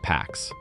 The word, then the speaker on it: P4X: For cover, he picks a name, P4X, pronounced like the Latin word pax.